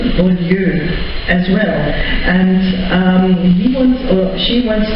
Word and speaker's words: Beaulieu: And I know too that people pronounce it very differently in America. It's a little trivial thing. We've been called everything from Beaulieu to Bowler to Beaulieu. And my father is very upset because no one knows really how to pronounce the name. And just for your information, it's Beaulieu. And it's a little French accent too.